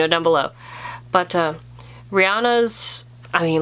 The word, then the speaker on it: Rihanna: love who doesn't love i always pronounce her name wrong rihanna i think is how you pronounce it rihanna yeah i sometimes say rhiannon and i think that's because of the old song it's a very old